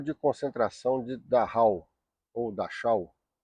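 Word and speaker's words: Dachau: Campo de concentração de Daha ou Daau. escreve-se Daha, pronuncia-se daal, foi um dos primeiros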